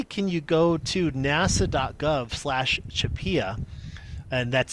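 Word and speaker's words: CHAPEA: way not only can you go to nasa.gov chupia and that's spelled you could see here c-h-a-p-e-a if you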